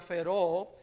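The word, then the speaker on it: φέρω: La palabra inspirado que usó el apóstol Pedro aquí es una palabra griega que se pronuncia feró, que significa gobernado por, llevado por, o impulsado por, o controlado por.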